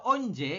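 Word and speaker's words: 언제: Koreanya adalah mokyo mokil kalau Oje Oje itu maknanya kemarin kalau onje kan ada ni di sini nih on misalkan on J onj itu artinya kapan kalau o j itu kemarin beda ya jangan sampai terkecol pokoknya ada perbedaan satu huruf onj dan OJ kalau OJ itu kemarin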